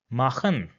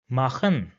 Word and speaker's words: machen: Now if this comes after the characters A, O, U, or A, U, then it will be pronounced as H in English.